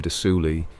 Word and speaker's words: de Soulis: Of Redcaps, one of the most infamous is the story of Lord William de Soulis and his sinister familiar. There you go, de Soulis. The S is silent.